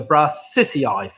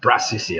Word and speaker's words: Brassicaceae: It's actually Brassicaceae, I think. Brassicaceae.